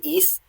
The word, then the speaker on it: íss: i want to do east and then call it a night because it is uh 8 p.m pacific here it just has two s's in old norse it's a long i and both in both